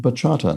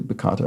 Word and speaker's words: bachata: sonar khatib explains uh Bachata is pronounced Bachata not whatever I said which was probably bakata or something it's a really cool